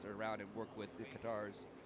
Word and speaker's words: Qatar: Katar. Katar. Katar. Katar. That the like the official US state department is cutter. Actually, the folks that have been to race there, pronunciation is Qatar.